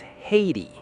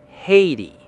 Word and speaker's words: Haiti: correct American pronunciation is Haiti. Haiti. Let's break it down into two easy syllables. Hay ti. For the first syllable, think of dried grass fed to horses on a farm, which is hay.